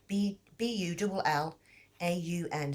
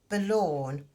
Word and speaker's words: Bullaun: Bullaun. So I think it's pronounced Balawn, but I may say that wrong.